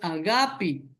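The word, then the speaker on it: ἀγάπη: Aquí pone ágape con tildena a es brújula, pero la pronunciación en griego es agapi.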